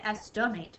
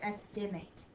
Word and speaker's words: estimate: say your name, and the A makes a long A sound. A, in estimate. Sometimes we say estimate, but it's estimate.